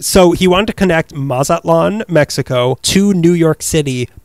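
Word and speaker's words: Mazatlán: that would have linked Mazatlan, Mexico. Is that how you pronounce it for me? That's right. You got it, boy. Yeah, you got it. So he wanted to connect Mazatlan, Mexico to New York City by train.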